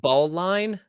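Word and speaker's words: Baline: Ballin to make it Right, sound. because they recognized that he was absolutely sick at basketball. Yeah, exactly. It also might have been pronounced ball line, but Oh, okay.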